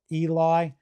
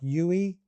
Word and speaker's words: Eli: It's spelled e l i and it comes out something like Yui, sort of like that.